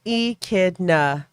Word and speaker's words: echidna: fairly common occurrence and we pronounce it as e kidna oh my god i